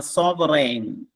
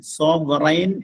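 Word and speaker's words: sovereign: മറ്റൊന്ന്, second question ഇതാണ്, സോവറൈൻ, SOVERIGN. SOVERIGN. സോവറൈൻ എന്നാണ് അതിന്റെ ഉച്ചാരണം.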